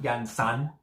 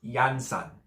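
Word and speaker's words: Iansã: The emphasis is on the first A. It's not Yansan. It's Yansan.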